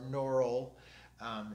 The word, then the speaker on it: Gnaural: And I use a tune called Binaural, or a program called Binaural, G-N-A-U-R-A-L, or Neural, if you use the silent G, like in Mu or Gnu, depending on how you pronounce it.